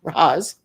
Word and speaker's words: Raz: radar and radar Raz Raz rhymes with Oz um radar was almost